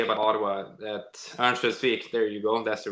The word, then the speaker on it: Örnsköldsvik: Same thing as people say about Ottawa, that Örnsköldsvik, there you go, that's the right pronunciation.